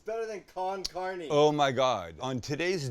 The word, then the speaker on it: con carne: con Carney cheese chili con carne what did I say con Carney all covered with chili con Carney wrong wait con carne oh carne it's not